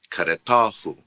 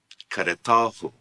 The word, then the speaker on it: karetahu: You add another syllable to the word, so therefore the stress will change. For example, kareta, karetahu. Kareta, karetahu. Note kareta, karetahu. Note the change in the stress when you add the possessive pronoun to it.